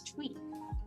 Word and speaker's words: Thuy: It's not T, it's Thuy.